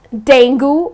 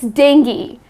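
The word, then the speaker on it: dengue: Yes, it's not denu or it's not denu. Many people pronounce it in this manner but that is incorrect. The correct pronunciation is deni.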